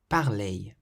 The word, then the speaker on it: parler: When you have a verb that ends in the letters ER, you pronounce the ER like A, as though it were an AY, A.